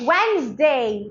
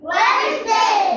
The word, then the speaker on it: Wednesday: rhino rhino rhyme rhyme D is silent in these words sandwi sand repeat after me not sandwich sandwich sandwich Wednesday Wednesday Wednesday Wednesday handsome handsome I can